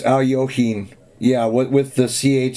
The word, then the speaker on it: Alekhine: And finally, he started getting tired of it and saying, hey, you say it Alyoshin, and it spelled it out in one of the books, like the pronunciation.